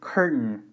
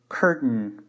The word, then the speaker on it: curtain: I'll make sure you do not pronounce the a or the I so the result is like a nasal sound curtain with that will probably